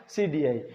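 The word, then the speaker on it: psidii: अब आप इसको इंग्लिश में देखेंगे तो आपको इसमें पी मिलेगा जो साइलेंट होता है, फ्यूजेरियम ऑक्सीस्पोरम पैथोवार सीडीआई।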